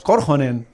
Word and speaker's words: Korhonen: Bueno, los apellidos finlandeses siempre el acento va en la primera sílaba. Sí. Siempre. No, son esdrújulos. No digamos Korhonen, digamos Korhonen claro. o cosas así, ¿no?